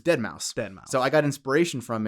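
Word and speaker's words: deadmau5: guy from there yeah but it's spelled d-e-a-d-m-a-u-5 like the number five so if you don't know who that is it looks like dead mao 5 white but if you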